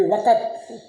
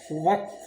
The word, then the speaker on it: وقت: تلفظ کی بات کہی۔ اب یہ عام طور پر بڑے بڑے پڑھے لکھے لوگ بھی وقت کہتے ہیں، حالانکہ لفظ جو ہے وقت نہیں ہے، وقت ہے، وقت۔ تو وقت بولنا، اس